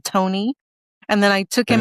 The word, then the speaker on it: Toni: It's Miss Toni and the Macaroni Band because macaroni rhymes with Tony.